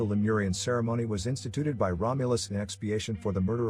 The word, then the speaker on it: Romulus: the progenitors of rome in latin their names are pronounced with the accent on the second syllable romulus and remus in the early 19th